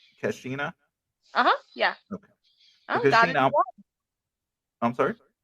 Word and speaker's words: Keshena: this one do you think i'm sorry and pronounce your name for me because i don't want to say it wrong kashina cassina uh-huh yeah okay i'm sorry oh i just